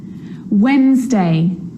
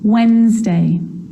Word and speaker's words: Wednesday: sea so what about the letter D yep it can be silent too Wednesday handsome sandwich so